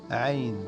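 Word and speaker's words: ع: Le 3, c'est le son aïn. C'est le plus difficile.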